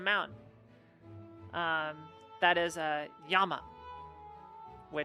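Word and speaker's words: 山: Um, yeah, when it's on its own, it's yama. But if it's attached to a proper noun, so like you're naming it like Fuji or Aso or Unzen.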